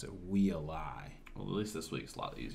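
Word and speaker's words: Waialae: We said Wheelay. In Hawaii last year, or last week was the tournament. Mm-hmm. I heard the broadcast that said "We a lie" is what it was, I believe.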